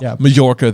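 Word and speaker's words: Mallorca: it's okay it's okay Jim Dale says it as major does he really okay okay okay that's well then maybe maybe it has double pronunciation but I think it's in Spain and it's a soft J yeah okay well mayorca then and I just think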